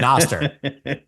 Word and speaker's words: Nostr: Nostr, Noster, dude. There you go. You're clearly you're gonna get your Bitcoin maxi credentials pulled. You may have been here since 2010, but Noster.